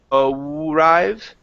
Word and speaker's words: arrive: Give me an R sound instead of arrive. Okay, it's an R.